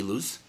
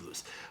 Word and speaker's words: Illouz: decade uh so this is uh lose right I pronounce it right yes Lewis Okay so we've been connected on Facebook forever